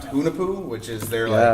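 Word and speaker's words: Hunahpu: They have, I think it's pronounced Hunapu, which is their Yeah.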